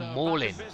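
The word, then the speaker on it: Malen: Oh, mauling. Like mauling. Oh, so I'm saying it. So I'm saying it wrong. Well, I mean, I'm sure the commentators say Malin as well.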